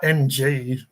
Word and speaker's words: Ng: comedian Nigel Nung it's it's like NG and it's his last name I think it's pronounced n but yeah he he